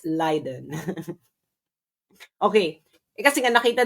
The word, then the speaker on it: Leiden: It's not Liden again, it's Liden. Liden Liden. Hindi po siya Layiden, it's Liden. Okay. Eh kasi nga nakita nila nagtuturo siya sa Liden um University of Liden ah and doun ako nag-aral.